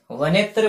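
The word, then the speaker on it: वनेऽत्र: यहाँ पे ये जो ए है इसका उच्चारण नहीं होता है, वनेत्र बोलेंगे इसको। ठीक है, लिख लो इनको।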